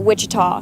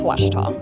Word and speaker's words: Ouachita: Back in Texas, everybody pronounces it Wichita, but really it's Ouachita.